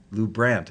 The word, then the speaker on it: LuBrant: name Lou Brandt or Lou Brant the European pronunciation or the midwestern Lou Brandt as an aunt great good to know I